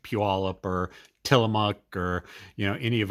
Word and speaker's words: Puyallup: It's like someone who comes from out of state of Seattle tries to pronounce like Puyallup or Tillamook or any of our Northwest Pacific Indian tribe name.